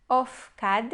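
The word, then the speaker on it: אפקד: Ofkad, a primeira sílaba é uma sílaba fechada e ela é a sílaba átona da palavra.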